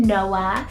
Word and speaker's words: Noa: a biblical name here we have the name noah cell n-o-a noah this particular spelling is often used for girls and it's actually a completely different name than noah with an h and this one's hebrew rooted